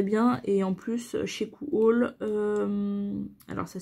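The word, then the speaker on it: Coohaul: Et en plus, chez Cool, alors ça s'écrit C-O-O-H-A-U-L.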